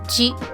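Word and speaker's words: じ: And also there is no Z pronunciation with the Shi. It will not become Z. It will just be Ji.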